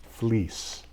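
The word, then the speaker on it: Fleecs: And if you're saying F L E Cs, I didn't think that was Fleece.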